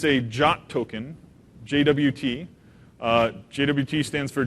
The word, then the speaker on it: JWT: the standard it says how you're supposed to pronounce it it's not Jawad it's jot and the way you read this thing is